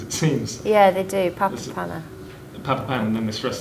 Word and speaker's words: Papapana: on the third syllable and do they always pronounce all three of those paths because it seems yeah they do papa panna papa pam and then mistress the third panda